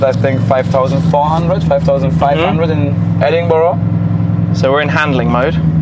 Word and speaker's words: Edinburgh: were like it's not you don't say how you spell it yeah because we're Germans we were like Edinburgh and then people over there I was asking them how to pronounce it right and they were like just say Edinburgh Edinburgh Edinburgh there's no ladder here